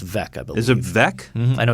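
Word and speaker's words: Veeck: uh bill veek in the chicago it's actually pronounced vec is it vec i know it's spelled funny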